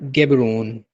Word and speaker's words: Gaborone: इसके कैपिटल का नाम आपने याद रखना है, कैपिटल है गेबरोन, बोट्सवाना का कैपिटल है गेबरोन, GABORONE, गेबरोन।